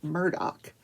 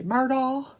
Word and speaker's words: Murdaugh: say Murdoch well it it's spelled m-u-r-d-o-u-g-h so it looks like murder but it's pronounced Murdoch but if you're from South Carolina you just say murder and Alex which is